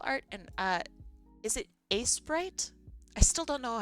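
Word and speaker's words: Aseprite: It's pronounced a sprite. Yeah. I always call it aspirate. I don't know why.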